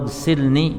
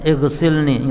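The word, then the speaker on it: اغسلني: Allahumma ya Allah, Allahumma ghsilni, jadi bacanya langsung. Ini hamzah wasal. Allahumma ghsilni. Jangan berhenti Allahumma ya ighsilni, ya, tapi Allahumma ghsilni, ya Allah cucilah aku,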